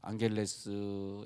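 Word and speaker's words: Angeles: 에 이번주 간에도 필리핀에서 또 선교사님이 연락이 왔네요 앙헬레스 에서 아 뭘 앙헬레스 암 쥐 발음이 gh 발음 나니까 우리가 모르고 앙겔라 애써 면접을 안경 해서 그 사람보다 당했었는데 앙헬레스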